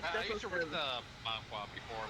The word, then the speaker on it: manhwa: Manhwa? I think it's manhwa. Manhwa. I think it's Manhwa. just Okay. My bad. I used to read the manhwa before like anime, so.